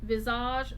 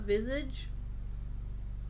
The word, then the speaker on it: Visage: It is pronounced Visage, not Visage.